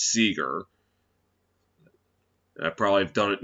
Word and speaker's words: Seager: I remember did that in MLB on TSR debut in 2021 called Corey Seager. It's Seager.